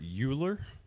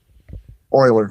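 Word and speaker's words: Leonhard Euler: Haley's was the last serious scientific attempt at describing uh a hollow earth until Linhard Uler Oiler we call pronounced it oiler. Yeah, Oiler. Okay, thank you. Linhard Oiler. In the 18th century, a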